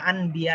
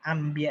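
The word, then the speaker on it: أنبياء: কিন্তু যারা ভালো দক্ষ, জানে যে এটা এই জায়গায় নুন থাকলে মিম দিয়ে মিলিয়ে পড়তে হয়, নুনের পরে যদি এভাবে বা থাকে তাহলে আম্বিয়া এভাবে বলতে হয়, তারা মিলিয়ে পড়ে।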